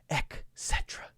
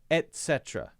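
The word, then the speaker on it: et cetera: of the common misunderstand miss under miss under mispronounced words is etc because a lot of people including native English speakers say ech cetera etc drives me crazy it's not etc it's at cetera etc not cetera okay how to use whom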